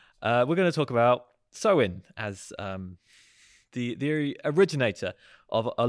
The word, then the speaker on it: Samhain: in traditional Irish fashion, it's called nothing like it's spelt, and that's Samhain.